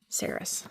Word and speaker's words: Saris: Is the pronunciation guide not in the paperback? Oh, here it is. Saris.